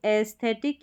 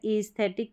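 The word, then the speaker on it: aesthetic: यहाँ पर है कि ये जो है स्पेलिंग, इसको एस्थेटिक या ईस्थेटिक करके प्रोनाउंस करेंगे, यानी इस ये अलग से आपको याद रखनी है। इसमें जो है ई करके भी इसका उच्चारण है और ए करके, दोनों तरीके से इसको प्रोनाउंस करते हैं।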